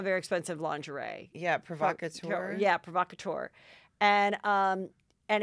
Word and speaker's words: Provocateur: that's like a very expensive lingerie yeah yeah provocateur and um and it's like red lacy two